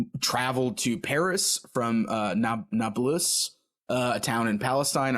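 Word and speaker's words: Nablus: to Paris from uh na naus uh a town in Palestine I'm probably mispronouncing that it's nabl us yeah full disclaimer listeners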